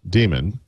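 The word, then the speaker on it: Daemon: I I I want to say that uh his first book uh Demon spelled like, you know, dame like the Unix demon, right?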